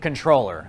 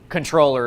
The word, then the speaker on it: comptroller: now first of all it's spelled comptroller but you pronounce it controller i think it's got